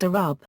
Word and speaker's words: الربع: expression of a quarter, lrb pronounced arub.